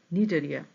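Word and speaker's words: Cnidaria: protozoa তারপর Porifera Coelenterata Coelenterata কে আবার নিডেরিয়া বলা হচ্ছে এক্ষেত্রে সিটা সাইলেন্ট থাকে বা উৎস থাকে এবং উচ্চারণটা হবে শুধুমাত্র নিডেরিয়া প্লাটিহেলমেন্থিস নেমাটোডা অ্যানিলিডা আর্থোপোডা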